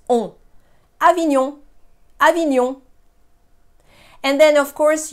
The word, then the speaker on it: Avignon: So when I say we don't pronounce letters separately in a nasal sound, you might be tempted to say Avignon, Avignon, Avignon. But in a nasal sound, the N is not there.